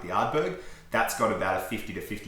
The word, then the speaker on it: Ardbeg: I'm also just going to quickly correct you on the pronunciation of Ardbeg. Ardbeg.